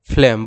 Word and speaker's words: phlegm: जिसको हम कहते हैं, प्रोनाउंसिएशन उसका होगा लाइक दैट, फ्लेम, इस तरह से आप उसको प्रोनाउंस करोगे।